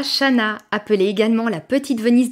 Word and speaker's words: Chanaz: Petit nota bene, comme toutes les villes du coin, cette ville se prononce Chana et non Chanaz.